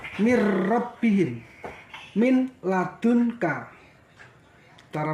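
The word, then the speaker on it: من ربهم: Min rabbihim, cara membacanya mir rabbihim.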